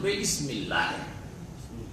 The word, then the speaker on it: বিসমিল্লাহ: সুতরাং ইকরা বিসমেতে যদিও বায়ের সাথে ওখানে আলিফটা হামজা ওয়াসল হয়ে মিলে গেছে, উচ্চারণে আলিফ আসে না, কিন্তু লিখাতে আসে, যেটা হচ্ছে আসল। এখানে সেটা হযফ হয়ে গেছে, উচ্চারণ আসে না আর লিখাতেও আসেনি।